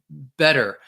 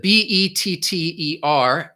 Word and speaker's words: better: in the middle and it just sounds like a D so better I instead of B et ter instead of saying better like you might hear more in British English I just say better which sounds more